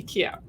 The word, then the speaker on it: IKEA: are pronounce it differently in German you know I'm originally from Germany we actually say Ikea but you go to